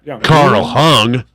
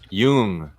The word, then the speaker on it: Jung: basically those guys philosophies Carl Carl Jung Yeah Carl hung what hung what what Yung Carl Yung if she were a president she'd be babraham Lincoln Yun you know Yun Abraham lincol it is Young I know I know yeah they call they